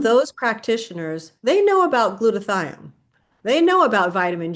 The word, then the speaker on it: glutathione: You are known as the leading expert when it comes to glutathione.